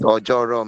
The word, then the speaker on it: Ojoro: What's the correct pronunciation? It's Ojoro, ma. Ojoro.